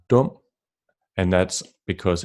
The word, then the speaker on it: dum: The vowel sound U lowers down to O, as in luft, sukker, and dum.